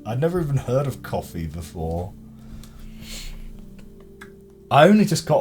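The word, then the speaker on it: Ko-fi: there directly and oh it's just pronounced coffee is it oh I I pronounced it Kofi because I assumed it was supposed to rhyme with Hi-Fi or Wi-Fi is it just coffee boy shows what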